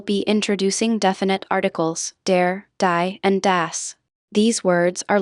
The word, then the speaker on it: die: Ensure you pronounce die as dia, not like the English word die.